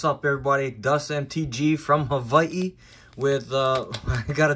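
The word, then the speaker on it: Hawaiʻi: it's not Hawaii it's Havi and yeah the the W is also a v oh I see some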